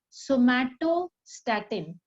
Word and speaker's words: somatostatin: which is an inhibitory hormone its name is somato Statin please pronounce it somato yes somato Statin this is